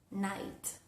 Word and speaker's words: knight: Bueno, la excepción es cuando tenemos la K al inicio de una palabra seguida por la letra N. Por ejemplo, en la palabra knee o en la palabra no, o en la palabra night. Night de caballero, no de noche.